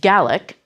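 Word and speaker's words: Gaelic: A native speaker of Scottish Gallaic as the word is pronounced in Scotland.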